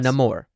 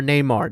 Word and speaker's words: Namor: Or Neymar, depending on who, which I also appreciated the fact that they didn't all say it in the Latin dialect. They, the Wakandans pronounced it how they would pronounce it, and et cetera, et cetera.